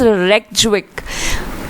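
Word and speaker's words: Reykjavík: Iceland की थोड़ी pronunciation problem है, इट्स रेक्जविक।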